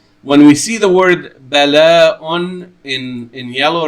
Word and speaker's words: بلاء: But the way it's spelled in here with a waw right here, with a waw and a hamza on the waw, bala'un, and it is written in a weird way,